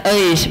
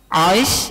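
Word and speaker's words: عيص: saudara kembar namanya Ais Ain ya Shad Bacanya apa itu yang jelas bukan Eis bukan jadi jadi Ais ya bacanya Ais atau ISIS barfikum pakai Shad nah orang orang kita mah susah ngucapin Shad Iya jadi kemudian Nabi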